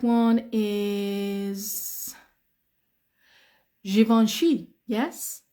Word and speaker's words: Givenchy: famous One okay uh some English people say Givenchy some English people really they they don't have a lot of Education they call it Givenchy um but the correct one is Givenchy yes Givenchy which is what you pronounce correctly Givenchy very